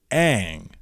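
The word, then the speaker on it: Aang: like his name his name all throughout the cartoon is Ang and it's not mispronounced because it's an Asian film that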